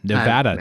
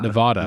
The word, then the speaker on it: Nevada: No, it is Nevada. Nevada, not Nevada. Nevada. Yeah. Oh, I said Nevada.